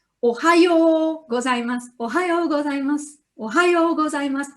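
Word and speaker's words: おはようございます: Ohayo gozaimasu, ohayo gozaimasu, ohayo gozaimasu. The first O is short, ohayo, yo is long, ohayo gozaimasu.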